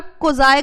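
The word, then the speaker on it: quasi: पढ़ा था what are कोजाई कांट्रैक्ट्स ठीक है this is pronounced as कोजाई contract ठीक है दिस इज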